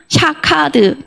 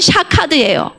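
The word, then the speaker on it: שָׁקַד: 자, 여기서 재미있는 표현은 살구나무가 히브리어로 샤케드입니다. 근데 12절에 내가 내 말을 지켜 나왔어요. 지키다. 이게 샤카드입니다. 해보세요. 샤카드. 똑같죠, 발음이. 글씨도 똑같아요. 발음만 달라. 샤케드는 살구나무고 지키다는 건 샤카드예요.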